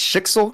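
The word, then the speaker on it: Schicksal: students and such valkyries and such from it's Shixle, correct? Is that how you pronounce it?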